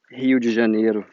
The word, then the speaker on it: Rio de Janeiro: And I just tried saying Rio de Janeiro with an English accent, but it's kind of hard for me. Rio de Janeiro, that's how you say it.